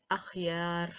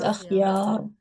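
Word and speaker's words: أخيار: So it will be pronounced in thick sound. Okay, so it is akhyar.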